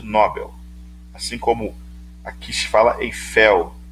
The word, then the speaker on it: Nobel: um palavras oxítonas aqui a pronúncia correta é no papel na hora de nobel assim como aqui se